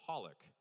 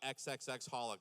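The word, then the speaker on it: xxxHOLiC: X's because Hunter Hunter also the X is silent. So, it's called, you say it as Hollik. I've been calling it XXX Hollik this whole time.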